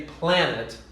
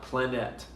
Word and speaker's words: planet: one syllables for example we say planet not planet i'm going to another planet if you say that it just sounds weird mostly i like to